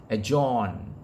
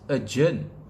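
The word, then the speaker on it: adjourn: times i i hear people uh pronouncing it pronouncing it as a john all right it is not a john a d j o u r n the correct pronunciation is a journey right sounds like uh u r g e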